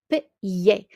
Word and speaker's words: pied: So pronunciation of foot is pied, à pied.